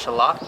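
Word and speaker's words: Shalott: days quoting Lady of Shallot. and so I really wanted to get this. It's beautiful, but also because of Anne. So It's pronounced Shallot. she says Shallot.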